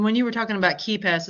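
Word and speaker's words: KeePass: And when you were talking about KeyPass, is that the one that's spelled K-E-E? It's not spelled key like K-E-Y. It's spelled K-E-E. My wife actually, she gets a hoot out of saying keep ass.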